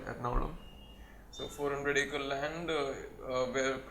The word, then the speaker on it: Ernakulam: Ernakulam, it is spelled as, but it's called Ernakulam.